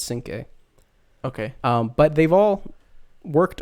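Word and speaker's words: Cinqué: His name looks like 5 plus a U and an E at the end, but 5 is in French.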